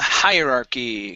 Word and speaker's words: hierarchy: uh-huh so split it split the word into two higher and then archie higher key higher r key hierarchy there you go